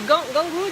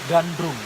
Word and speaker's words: Gandrung: C'est Gangru dance? Gandrung. Gandrung Dance.